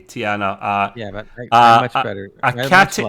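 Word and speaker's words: T'Ana: love them equally um the doctor's name is tiana by the way t apostrophe a n a tiana ah yeah much better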